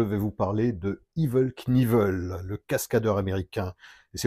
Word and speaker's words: Knievel: Et c'est aussi, à ma connaissance, le seul cas de figure où, dans la langue anglaise, on prononce le K devant le N. Donc surtout pas à faire avec le moteur Knucklehead, que beaucoup prononcent Knucklehead. Là, on ne le prononce pas. En revanche, avec le cascadeur Evel Knievel, il faut le prononcer.